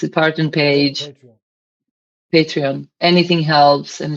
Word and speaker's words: Patreon: If you can please go to my um Parthian, I'll pronounce it, Parthian page, Patreon.